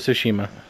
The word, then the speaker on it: Tsushima: of shima tsushima sushima i'm not not trying to mispronounce this word i don't really know how to say it it's sushima shashima it's ghost of tsushima i started playing ghosts